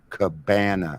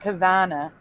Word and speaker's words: cabana: it was it was Coco Cabana with a B, not Havana, but that's a different word. That's the way it is. Cabana is like Well, yeah, but a cabana is a It's not Cavana.